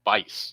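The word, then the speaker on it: Buice: I was pronouncing the U and calling him Bice like twice, but it's actually Bice.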